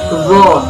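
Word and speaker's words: ظ: Yang ke-17 yaitu huruf dzu, pelafalannya dzu.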